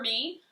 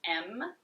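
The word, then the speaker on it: AIME: This fragrance, I think it's pronounced M. It's A-I-M-E.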